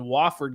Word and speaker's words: Wofford: The Drake Bulldogs, minus 12 against, how do you pronounce it? Wofford, I believe, correct?